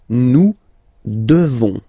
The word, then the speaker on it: devons: Nous devons. Okay? Classic ending ONS for nous. Okay? You just pronounce this on, this nasal. Okay? And then the S, final S is not pronounced.